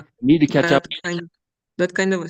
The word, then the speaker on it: catch up: Yes, so the stress is on up.